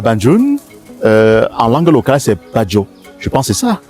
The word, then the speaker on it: Bandjoun: La France a écrit Banjul, Bafoussam, Band. Non, en réalité, c'est le PE. Badjo. Oui. Bafoussa. Bamgam. Balang. C'est comme ça. Bon, le français a voulu prononcer facilement. On a écrit ba. En effet, c'est Badjo. Badjo, baga.